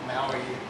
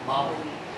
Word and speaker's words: Maui: the time as DJs not Maui it's Maui Maui yeah yeah yeah that's